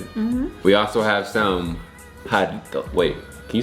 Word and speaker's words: Jarritos: Jarritos. Can you say it one more time? Jarritos. Jarritos. If I say it fast, I can try to roll my R's like jarritos.